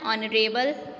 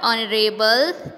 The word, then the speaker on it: honorable: Bose is blank honorable man. So students, here you have to write N because in the word honorable, H is silent.